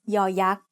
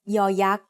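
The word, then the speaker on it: ย ยักษ์: As the initial sound of a syllable, it makes the sound y, just like the letter Y in yes. As the final sound of a syllable, it adds the sound e that blends with the vowel, just like the Y at the end of the words say and boy.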